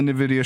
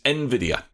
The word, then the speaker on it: Nvidia: the switch and the Nvidia shield than the video do I not say it right is Nvidia oh right I've always said in a video that's Nvidia Wow yeah tonight II just